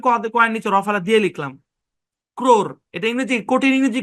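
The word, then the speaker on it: crore: ক্র, ক্র, ক্র, সি আর consonant blend. হ্যাঁ, ও এর sound oh, এটা সাইলেন্ট, ক্রোর। ও এর সাউন্ড, ও এর লং সাউন্ড হবে না, ক্রোর এরকম না, কারণ লং সাউন্ড দিতে গেলে আপনার কঠিন হবে, এই জন্য উচ্চারণটাকে সহজ করার জন্য ক্রোর বলা হয়, ক্রোর।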